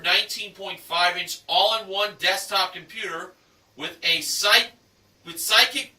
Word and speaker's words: Sykik: And an Acer 19.5-inch all-in-one desktop computer with Psychic Bluetooth speakers included. The brand is spelled SYKIK.